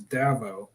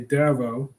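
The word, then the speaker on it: Davao: do that um Davido I was talking to a Filipina recently who called this davo that threw me off um I'll go with that pronunciation for now and say davo is on the list kalu Khan first class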